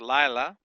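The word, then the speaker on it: לַיְלָה: The accent's on the first, Lila. Accent's on the first syllable here. So it's Lamed, Patak, Yod with a non-vocal Shava. Remember, this Shava is following a short vowel, so it's going to be non-vocal. And then we have Lamed, Comets, Hey. La, La.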